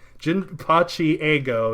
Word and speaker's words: Jinpachi Ego: His name is Jinpachi Ego is how you'd pronounce it, but The striker position is supposed to be like an egotistical position.